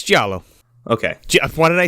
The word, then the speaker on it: giallo: diallo how the do you pronounce that word it's giallo okay jeff why did i say that like